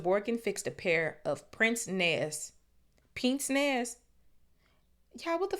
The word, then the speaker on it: pince-nez: Hold on, pince nez pronunciation. No, wait, hold on. Pince nez.